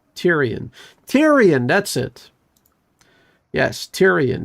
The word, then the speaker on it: Tyrion: Tyrion. That's how you're supposed to pronounce it.